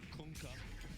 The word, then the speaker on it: Kunkka: Did you hear the way Tide yelled it? That's how you pronounce it. You're welcome. Kunkka.